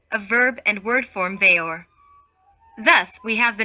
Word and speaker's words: Weor: veor which is pronounced veyor so the w is the v sound this w together with the remaining three letters ero a verb and word form veyor thus we have the